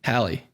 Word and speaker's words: Halle: be reckoned with so how have you been pronouncing Halle Berry for the last 30 years that's my colleague Mary Hallie bear it's the same name Ali Berry nope hate Ally Bailey Hallie Berry Hallie Hallie yeah like Hal from 2001 right